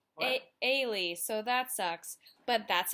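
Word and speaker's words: Elie: li e and it was amazing but it's pronounced Whaley so that sucks but that's okay because it's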